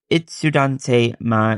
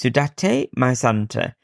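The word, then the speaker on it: Itsudatte My Santa!: nostalgic vibe, and it's Sudante my, no, that's not how you say it. It's Sudate My Santa, and it's one of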